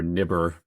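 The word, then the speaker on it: NIBR: institutes for biomedical research or niber as we kind of pronounce those words in Cambridge absolutely loved my time at niber it's an incredible place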